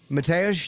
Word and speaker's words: Mateusz: Well, Mateusz, did I say it right? Am I saying it properly? One more, please. Mateusz, did I say it right?